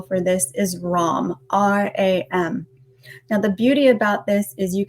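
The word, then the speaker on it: ram: guys so definitely digestive so the tibetan seed syllable for this is rom r-a-m now the beauty about this is you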